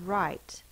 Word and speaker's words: right: turn to the right r i i in the middle of the base word can be spelled with I with a silent g h that says long I that's not considered a vowel team that's just an unusual spelling the last sound is T right I G H can say I the next right that